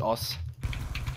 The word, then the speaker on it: osu: whatever it's called it's it's uh written osu but it's pronounced us yeah so like you